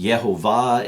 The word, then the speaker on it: Yehovah: And eventually Nehemiah told him that it was pronounced Yehovah, and I'll let you read the book for the cool story, how it's explained.